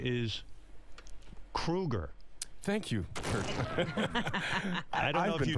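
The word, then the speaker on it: Kroeger: And Chad, you know, your last name is Kruger. Thank you. I don't know I've if been you know pronouncing that.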